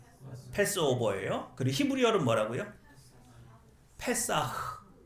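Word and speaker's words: פסח: 그래요 그리고 히브리어로는 뭐라고요 페사흐 어 흐 발음을 흑 이렇게 하면 안 되고 살짝 흘려야 돼 어 페사흐 예 자 요렇게 잔치를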